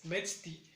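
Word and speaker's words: metztli: en una sesión anterior, mes es metzti. Metzti igual recae el sonido más grave en la primera sílaba, metzti. Y en el caso de año es shiwit.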